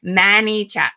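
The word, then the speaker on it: ManyChat: always say it wrong sounds like minnie like small it's many like much mannychat m-a-n-y c-h-a-t many chatters for those of you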